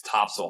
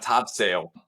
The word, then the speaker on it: Topsail: immediately say like, "Oh, Top Sail Island." It's like, don't Yes. say that to the wrong person because you'll get it right. You Yep. got to know it's Topsail Island, right? It's not Topsail.